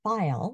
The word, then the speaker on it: faille: This hat dates to the 1890s and is made of file mostly, which is a closely woven silk with a ridged texture, is spelled Faille, and georgette, which is a sheer crepe woven to produce a dull, pebbly look.